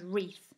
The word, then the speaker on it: wreath: n with the w the w becomes a silent letter if it comes before the letter r at the start of a word so for example writer wreckage wrestler wrinkle and wreath this means we can't